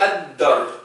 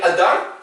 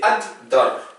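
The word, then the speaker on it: الدار: Donc c'est ad-dar, on double. Il ne faut pas dire ad-dar, c'est ad-dar. Il faut bien qu'on entende deux fois le D, ad-dar.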